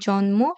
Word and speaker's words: জন্ম: তোমাদের মনে রাখতে হবে গ ও উ ট ন ম এবং ল এগুলোর সাথে যখন ম ফলা যুক্ত হবে তার উচ্চারণ অবিকৃত থাকবে তার মানে ম এর মতই উচ্চারণ হবে যেমন বাগমি